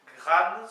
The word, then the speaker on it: graan: Donc, au présent, donc je fais, ça s'écrit G-R-A-A-N, gran, semble-t-il.